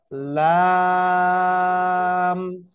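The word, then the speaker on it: لام: উপরের দাঁতের উপরের দাঁতের সাথে লেগে কি হবে উচ্চারণ হবে লা লাম কয় আলিফ টান হবে বলেন তো চার আলিফ টেনে উচ্চারণ করতে হবে লাম সকলে উচ্চারণ করেন জোরে জোরে লাম ওকে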